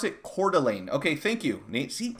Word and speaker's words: Coeur d'Alene: make waves for whatever reason pronounce it you pronounce it Coeur d'Alene okay thank you Nate see if if we